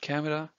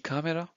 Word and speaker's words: Kamera: Okay, it's not camera, it's die Kamera.